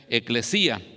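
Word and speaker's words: ἐκκλησία: Hay 117 referencias en el texto griego a la palabra iglesia, que en griego se pronuncia eclesía.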